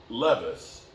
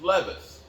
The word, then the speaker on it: Levis: we should have drafted Levis I keep saying Levi it's spelled like Levi but it's Levis reason alone not to